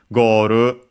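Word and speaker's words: ゴール: don't think but yeah goru uh accented as expected on the first syllable just like in English go in all the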